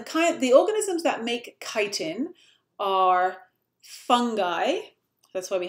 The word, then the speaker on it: chitin: there a small chitin it looks like chitin that's kind of how it's spelt but you say chitin um chitin is another